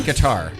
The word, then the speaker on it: Qatar: Well, how do you say Qatar? Oh, I Cutter. actually Cutter. been saying Nope. Qatar No, lately. it's not. It's I Qatar. think they're. If you ask Siri, it's Qatar or Qatar. Oh, Siri Yeah.